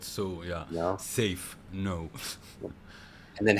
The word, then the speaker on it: Seif: you not so yeah safe No and then how do you tell people to pronounce it it's safe I always give an analogy of a safe box so it's yeah yeah